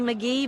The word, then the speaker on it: McGhee: e e it's d magee but the h is silent so don't ask me